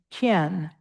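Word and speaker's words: khyen: Do po and then ken k h y e n. You'll see a couple of these um these types of of phrases that look like that. Ken. There's also a gen with a g and a ken with a k. And it's more of an aspirated sound.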